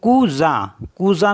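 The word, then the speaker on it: cousin: एस आई एन तो ओ यू को क्या पढ़ते हैं उ तो कुजा कुजा मीस होता है कजन एस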